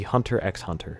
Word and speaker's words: Hunter x Hunter: eight is gonna be hunter x hunter yes you pronounce the x in between the hunters i adore hunter x